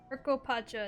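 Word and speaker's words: Urqopacha: hund peaks of time urop Pacha is how it's supposed to be pronounced it craw and fly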